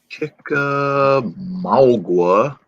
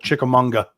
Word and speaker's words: Chickamauga: court chickamauga u.s national when we first moved here my my ex-wife used to call it chickamanga i said uh you're